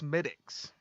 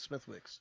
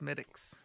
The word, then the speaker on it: Smithwick's: out i googled it checks out um it's pronounced smitics oh is it yeah i thought it's smithwick's yeah but smithwick's red ale irish made so it's smittyx pronounced smitics i drank that one before and it's pretty